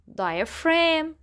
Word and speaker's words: diaphragm: system which is called diaphragm diaphragm so the G letter is silent so we call it diaphrag diaphrag this part is